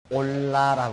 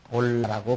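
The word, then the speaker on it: עולה: 번제는 히브리어문으로 올라라고 한다. 올라라고 그렇게 말하는데 그것은 재물을 태우는 연가 위로 올란다는 뜻을 가지고 있다. 우리말 발음하고 비슷하죠.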